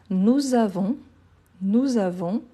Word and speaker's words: nous avons: Nous avons, avec la liaison, nous avons, le S à la fin on ne prononce jamais.